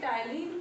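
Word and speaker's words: ptyalin: यहाँ हमने देखिए टाइलिन को जो है, ये टाइलिन लिखा है, पी से लिखा है, इसमें पी साइलेंट है, तो इसको टाइलिन ऐसे ही लिखते हैं, पी साइलेंट रहता है, ये टाइलिन है।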